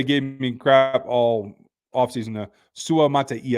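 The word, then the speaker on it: Suamataia: me crap all offseason Su Mata is the way that you pronounced that he said it himself in the presser yesterday so uh we got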